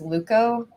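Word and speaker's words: TLVKKO: for the t and the t is silent so it's actually l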